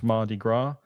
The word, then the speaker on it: Mardi Gras: It's Mardi Gras in New Orleans. You don't pronounce the S on that. It's Mardi Gras.